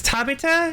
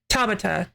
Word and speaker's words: Tabata: I guess it's Tabita. Is that that who you mentioned? Tab Tabata.